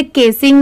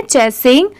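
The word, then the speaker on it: chasing: यहां पर इसे केसिंग नहीं पढ़ेंगे कि सी की साउंड क से आ रही है। नहीं इसे हम पढ़ेंगे चेसिंग।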